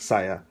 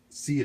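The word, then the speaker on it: Siya: met up with Sia and her name is pronounced Sia, not Saya, like a lot of people do. And I did that mistake too of pronouncing it Saya at first, but she went ahead and told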